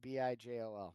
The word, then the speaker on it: Bijol: Yeah, Bijol. B-hole. Yeah, that's how you say it, right? That's It's a soft J.